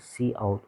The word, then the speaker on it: cout: c out okay so you can pronounce it as c out okay object sends to